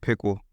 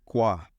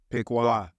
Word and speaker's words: Piqua: Cuz it it may like when you pronounce it Yeah. It may come off like pickle and they like Okay.